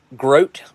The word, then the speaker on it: groat: got him all right groat like rhymes with boat and oh yeah groat